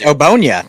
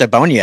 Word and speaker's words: Ogbonnia: Round 5 goes to your guy, UCLA defensive tackle, Otito Ogbonnia. You can say his name better than I can. You know him better than I do. It's Ogbonnia. It's just Ogbonnia. It's nice and simple.